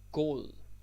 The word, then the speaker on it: god: God, god, or go, can also pronounce it that way.